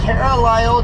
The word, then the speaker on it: Carlisle: i s l e cara lio that's how i pronounce it turn left on us